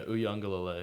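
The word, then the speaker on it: Uiagalelei: Yeah, Uyunglele.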